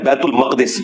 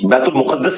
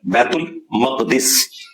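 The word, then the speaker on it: بیت المقدس: ये लफ्ज है बैतुल मक़दिस, बैतुल मुक़द्दस लफ्ज नहीं है, बैतुल मक़दिस इसकी ट्रू प्रोनाउंसिएशन है।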